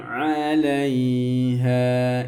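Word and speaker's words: عليها: Wa man 'alaiha, idhar ya. 'Alaiha. Wa man 'alaiha. Ya, seperti itu. 'Alaiha, ain nggak boleh dibaca wa man 'alaiha, nggak boleh dibaca hamzah. Ain sama hamzah berbeda.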